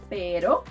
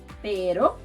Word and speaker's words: pero: So, to do the soft version of the R, which is called ere, you should flap your tongue like you do in the word butter.